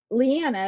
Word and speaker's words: Leeanna: And then yeah, I've asked my mom this because it's Leanna, it's spelled exactly like you say it. But I think because there's three vowels in a row, it's Leeanna. So like people have an aversion to three vowels being together.